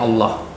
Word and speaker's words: Allah: Pronunciation Allah di dalam Islam ketika dituliskan sendiri seperti ini kita menyebutnya Allah. Okay. Sudah bukan Allah lagi.